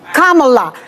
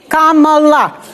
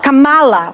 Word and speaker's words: Kamala: by the way let's start with that let's pronounce this Kamala Kamala Kamala this is not Kamala which they say on purpose but that's okay